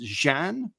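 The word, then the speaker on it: Xi'an: Story time as Karma takes us, and again, her name is spelled XI''AN, which I believe is pronounced Jean.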